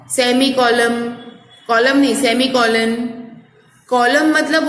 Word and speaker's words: colon: कॉलम, कॉलम नहीं semi कॉलन, कॉलम मतलब वो एक पूरी लाइन हो जाती है, ठीक है। तो कॉलन, कोलन और कॉलम, ये दोनों में प्रोनाउंसिएशन डिफरेंस है, ओके।